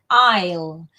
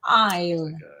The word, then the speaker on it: aisle: Aisle. Cuidado que se escribe aisle, pero no se pronuncia ni la S ni la E final. Aisle.